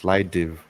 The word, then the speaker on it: Slidev: So I've actually been pronounced Slidev.